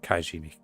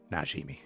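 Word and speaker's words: Najimy: come on come on is that how you pronounce it kujimi that's it that's it not not kashimi najimi there we go I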